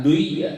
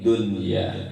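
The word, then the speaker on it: دُنْيَا: Tapi pembacaannya dibaca izhar. Dibacanya dunya, bukan duya, tapi dunya, ya gitu.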